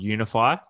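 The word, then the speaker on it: YOUNIFY: Danielle, we're launching a new activewear brand called Unify. So spelt Y-O-U-N-I-F-Y. And the whole, you know, the whole concept spell that again that for is me.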